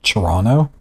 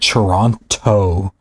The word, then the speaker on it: Toronto: Toronto was making fun of me cuz I call it Toronto. And he said the second T's silent.